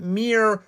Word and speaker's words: Myr: the whole time but Mir rhymes with like deer it's from Mir mad